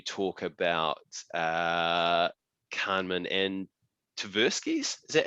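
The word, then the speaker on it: Tversky: um and you talk about uh carmen and taversky's is that how you pronounce his last name that's right yeah um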